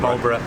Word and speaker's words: Marlborough: But we're going to have a look around Marlborough, not Marlborough. Marlborough, it's pronounced Marlborough.